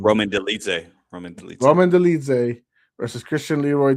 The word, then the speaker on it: Dolidze: Roman Dolidze.